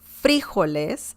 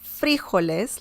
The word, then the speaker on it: frijoles: frijoles i know that some people pronounce this differently some people can say this as los frijoles frijoles like i believe it